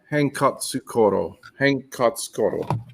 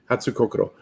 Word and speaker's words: Hatsukokoro: And this is the Hankatsukoro. And here. That's how you spell it. Oops. Hatsukokoro. Hatsukokoro. Oh, I totally said it wrong again. Hatsukokoro.